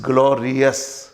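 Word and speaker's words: glorious: सो इट इज नॉट ग्लोरियस, this is ग्लोरियस। Clear? सो ये ओ यू एस is pronounced as अस, नॉट यस।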